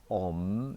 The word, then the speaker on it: Om: So this Om is the first sound, followed by shipra, followed by prasadaya, and that's the long one, followed by namaha. So the first one is a single syllable, it's om.